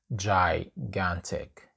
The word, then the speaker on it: gigantic: It's not gigantic, it's gigantic.